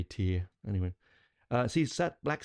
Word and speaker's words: Tyr: this um so like here tyr is actually pronounced t t r i always say tyr um po should say teer anyway uh see sat Black Sabbath back in